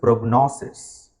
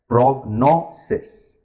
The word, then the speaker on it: prognosis: here and that is prognosis rhymes with diagnosis okay so look at the stress prognosis it's a three syllable word the stress is on the middle syllable doctor's prognosis diagnosis okay